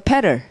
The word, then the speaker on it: petal: petal. 예, 강세가 앞이니까 T 소리가 안 나요. 그래서 petal 이렇게 소리 내고 그다음에 나무 껍질을 bark이라고 하는 거, 잡초 weed 이런 것도 아시면 다 좋죠.